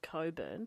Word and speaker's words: Cockburn: Western Australia it's called it's spelt Cockburn but it's pronounced Coburn so maybe he's Elko